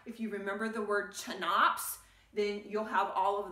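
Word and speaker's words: CHNOPS: you can think of it as chanops so c h n o p s it sort of looks like chops but we got to get the n in there someplace and it's easiest to pronounce if i stick it right there so it's chanops and those six elements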